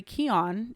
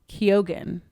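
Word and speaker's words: Keoghan: attorney gil coulson barry keon even though as i looked this up it looks like it's pronounced kyogen absolutely not keon is the unseen arkham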